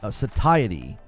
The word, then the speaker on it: satiety: It's pronounced satiety.